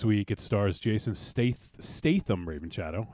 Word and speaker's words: Statham: it Stars Jason stath Statham Raven Shadow how do you say his last name Stratham Stratham there's there's no R in there well I'm I'm saying